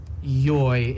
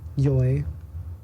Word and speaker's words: YOY: I know there was an image saying that it's supposed to be pronounced like joy, because they want like tourists to pronounce it correct.